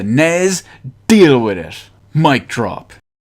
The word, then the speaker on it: NES: nests and rip nests it's the snez it's the nez deal with it mic